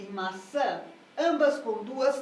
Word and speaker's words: maçã: compasso e aqui aqui percebe que a sílaba tônica é a segunda sílaba isso pra gente em